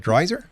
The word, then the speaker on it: Dreiser: Dreiser?